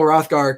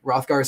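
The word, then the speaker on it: Hrothgar: rothgar and in beowulf rothgar spelt with an h for some reason high school me said i hate the h because it's silent so i took it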